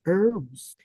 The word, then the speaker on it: herbs: For instance, sometimes you don't pronounce the H. Like you said, herbs.